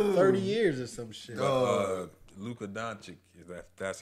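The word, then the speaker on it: Luka Dončić: Luka Doncic, that's how you say it.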